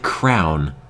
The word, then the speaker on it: crayon: How do I pronounce crayon? Like crayon. Sounds like crown.